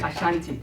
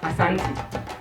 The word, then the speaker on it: Asante: The British couldn't pronounce our word. As my friend was trying to, even he's from Africa, you couldn't say it. The British called it Ashanti, but it is Asante.